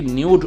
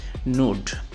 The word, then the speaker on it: nude: দেখুন এই ওয়ার্ডটি হচ্ছে নিউড নিউড শব্দটি অনেকে নিউড উচ্চারণ করে কিন্তু সঠিক উচ্চারণটা হচ্ছে নুড তো নুড শব্দের আসলে সঠিক বাংলা কি এটা